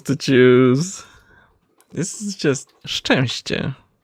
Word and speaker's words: Szczęście: makes one sound, CZ makes one sound, it's sh and ch. You don't say like zzz, because that would be like, you know, Crying out loud. insane. It's only 2 syllables. Szczęście.